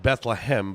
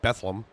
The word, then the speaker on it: Bethlehem: It looks like it's spelled Bethlehem, but here in PA we call it Bethlehem, except for the month of December where then it becomes Bethlehem.